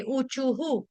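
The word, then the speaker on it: ऊचुः: विसर्ग विसर्ग का उच्चारण हमने किया आ छोटे उ से मतलब ह और छोटे उ की मात्रा क्यों क्योंकि विसर्ग से पहले शब्द हमारा वर्ण क्या आ रहा है चू उसीलिए इसीलिए क्या हो गया विसर्ग का उच्चारण भी हम हु के साथ करेंगे उचुहु गोप्य उचुहु गोप्य उचुहु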